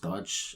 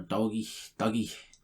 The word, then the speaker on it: Doge: So Elon Musk just tweets DOGE, which is up for interpretation of how it's pronounced, but it's like could be pronounced Dodge or Doggy.